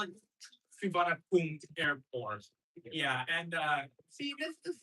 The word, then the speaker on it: Suvarnabhumi: No, I'm going to be talking about the vowel at the end because it's apparently supposed to be pronounced firmly spelled as Suvarnabhumi. And it's wrong, but I can't blame the English transcribers for spelling it like this. Because this is supposed to be a vowel. Yeah. This I can thank you. This is supposed to be E. This is a vowel. You're supposed to pronounce it.